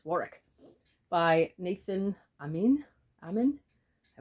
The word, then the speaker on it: Warwick: War wari sorry Warick it's not Warwick because it's English it's Warick by Nathan Amin ammen